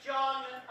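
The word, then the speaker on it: Jon: My name is John, without an H, pronounced slightly faster than John.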